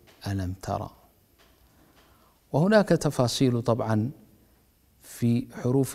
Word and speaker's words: الم: تكتب ألف لام ميم، لكن نطقك بألف لام ميم هو ذكرك أو نطقك باسم كل حرف، فالحرف الأول اسمه ألف، والحرف الثاني اسمه لام، والثالث اسمه ميم، بينما عند نطقك بألم ترى أنك لا تنطق بأسماء الحروف إنما تنطق بالحروف ذاتها فتقول ألم ترى.